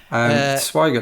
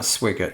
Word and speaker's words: Swigert: I've managed to mispronounce all of their names, I think, on this podcast. Swigert, not Swigert.